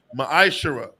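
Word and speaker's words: מעשר: Malachi chapter 3: 8-10 means 10th in the Hebrew is pronounced Maisha 10% of every penny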